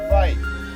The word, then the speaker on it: Wai: Actually, repeat after me. Vai. It is spelled W-A-I.